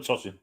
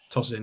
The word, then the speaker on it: Tosin: So just call him Tosin. Toss in.